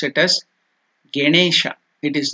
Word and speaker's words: Ganesha: So again I will tell you, it is not Ganesha. You should never tell Ge. It is Ga.